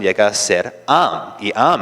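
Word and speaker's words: עַם: es equivalente a una a y entonces la pronunciación llega a ser am en hebreo significa pueblo.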